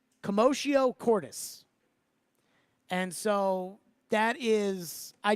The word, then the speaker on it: commotio cordis: Also, it's pronounced commotio cordis.